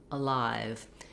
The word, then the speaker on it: alive: that short little uh alive many words that start with letter a that are not stressed on the first syllable like around about again